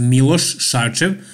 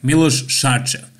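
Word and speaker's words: Miloš Šarčev: And if I didn't tell you already, his name is pronounced Milos Sarcev. So Milos sh like shorts, Sarcev ch like chair. Milos Sarcev.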